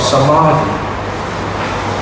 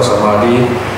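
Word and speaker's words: samādhi: For example, Samadhi, the second letter, you see that the A has always called a metron. Metron means a line above the vowel.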